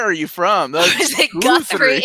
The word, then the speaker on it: Guthrie: from is it guthrie is it guthrie i've always pronounced to go through but i don't i i know i put your names all the time so i don't know okay it's right guthrie you're friends i'm wrong